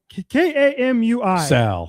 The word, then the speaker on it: Kamui: Kamu Kamu K A M UI Kamui Kobayashi.